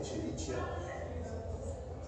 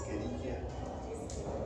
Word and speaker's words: Escherichia: Otra cosa importante, acuérdense de pronunciar, no se dice Escherichia, es Escherichia. Sí, Escherichia. O sea, cuando vean los nombres, por ejemplo, en este caso, Escherichia, o sea, textualmente se lee como Escherichia coli, pero acuérdense que esto suena como si fuera acá, o una C, ¿no? O una Q, vaya.